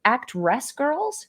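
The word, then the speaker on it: Actwres girlZ: believe the pronunciation is actress girls it's like the word Act w-r-e-s from wrestling and girls with a zed um really not phonetically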